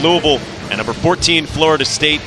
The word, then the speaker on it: Louisville: My son goes to school at Bellarmine University, and Mike, I think the proper way to pronounce it is Louisville. Louisville.